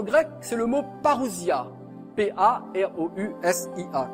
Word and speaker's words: parousia: P-A-R-O-U-S-I-A, comme ça se prononce, parousia.